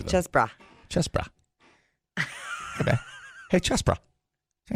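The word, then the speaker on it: Chessbrah: Chessbra.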